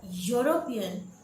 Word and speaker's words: European: So when we pronounce the word European, in spite of two vowels E and U, we are getting the sound of consonant Y, European Y.